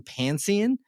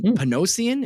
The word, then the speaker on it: Panosian: and the artist is Dan pansan uh P panosian excuse me I apologize for mispronouncing that but Dan ponosan which